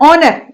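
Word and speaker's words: honour: और ऑनर, ए ई आई ओ यू, इसका ओ का ऑर्डर साउंड आ रहा है यहां पर, है ना। एच क्योंकि यहां पर क्या होता है, साइलेंट होता है, ऑनर।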